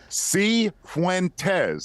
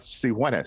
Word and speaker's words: Cifuentes: Asked me to say it to him, and Joey Cifuentes, and he said, no, that is not how you say it. It is Cifuentes, not Cifuentes.